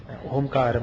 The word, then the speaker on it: ഓം: പ്രണവം എന്നൊക്കെയുള്ള കാര്യങ്ങൾ പറയുന്നു ഓംകാരം എന്ന് പറഞ്ഞാൽ എന്താണ് അത് മൂന്ന് ശബ്ദമാത്രകൾ ചേരുന്നതാണ് ഏതൊക്കെയാണ് മൂന്ന് ശബ്ദമാത്രകൾ ആ ഊ മ അപ്പ അപ്പോൾ എല്ലാ ശബ്ദങ്ങളും സർവ്വ ശബ്ദങ്ങളും ഓംകാരത്തിൽ അടങ്ങിയിരിക്കുന്നു എന്നാണ്.